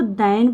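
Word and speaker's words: than: इसको दैन पढ़ेंगे, दैन, और एक ये होता है, ये क्या होता है? देन, इसका मतलब होता है फिर, इसका मतलब देन का मतलब होता है फिर, लेकिन दैन का मतलब होता है बजाय, यानी कि जब हम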